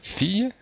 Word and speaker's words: fille: se retrouver par exemple ici dans fille, donc le i, deux l, les deux l se prononcent ye, fille, ou même pied, puisqu'en